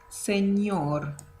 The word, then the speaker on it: señor: Okay, and here you probably notice that there is a letter that we don't have in the Spanish, in the English alphabet, which is ñ, ñ. So that word sounds señor, señor.